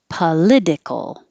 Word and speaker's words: political: a girl's name kate political political the t changes to a d politics we keep the t politics politician politician during